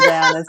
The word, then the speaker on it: Diahna: DIAHNA FORTUNA: And I'm just going to correct you. I pronounce my name Diahna.